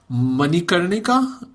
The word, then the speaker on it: Manikarnika: I think the only one that really came out was Manikarnika. Am I pronouncing that correctly?